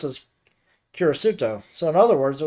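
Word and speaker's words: キリスト: like the character for 10, and Christian being pronounced as Kirisuto.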